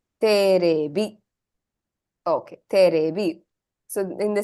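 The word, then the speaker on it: テレビ: Teribi. Terebi.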